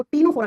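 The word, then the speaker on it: Ctenophora: तीन नंबर पे आता है उसको टीनोफोरा कहते है। लिखते है सी से प्रोनाउंस करते हैं तो टी से करते हैं टीनोफोरा।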